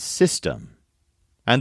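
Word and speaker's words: sistema: words are program and system and the words are programa spelled like the English word but with an a at the end and Systema spelled s i s t e m a system now this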